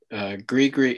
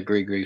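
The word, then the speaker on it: Gris Gris: out without us promoting them so it said grigri it's pronounced grigri films but it's spelled g-r-i-s g-r-i-s f-i-l-m-s dot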